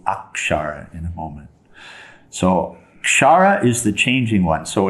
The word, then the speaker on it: kshara: here okay our chara so the word there's a k there so we're striving to pronounce it correctly k-s-h-a-r-a is the way it's transliterated and we come to akshara in a moment so shara is the changing one